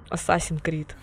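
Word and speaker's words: Assassin's Creed: Ассасин Крид. Вот правильное произношение.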